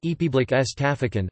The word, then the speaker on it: République centrafricaine: Bifrika, French, République Centrafricaine pronounced Epiblik S. Tafikan, or Centrafrique S.